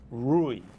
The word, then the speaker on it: Rui: but it would ordinarily be spelled rui and pronounced rui okay but mike sound in portuguese yes and the last name would actually be pronounced rage okay so the portuguese version of my name is rui regis got it but my parents uh being